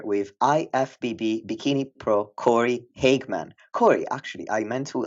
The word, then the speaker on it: Hageman: Today, I'm sitting together with IFBB bikini pro Corey Hagman.